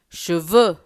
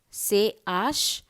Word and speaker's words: cheveux: E-U are pronounced as E. Ne. N-O-E-U-D. Ne. Cheveux. C-H-E-V-E-U-X.